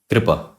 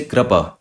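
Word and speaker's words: कृपा: So this vowel is neither pronounced as ri. You don't say kripa, nor it is pronounced as ra. You don't say krapa. It is pronounced like r, like a bit of a roll of a tongue. You need to roll out your tongue. Kripa.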